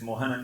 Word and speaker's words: Mohanan: My name, for example, in English you cannot have a her, native English, in an unstressed syllable. So when I tell an English speaker my name is Mohanan, they have two choices. They can't say it that way.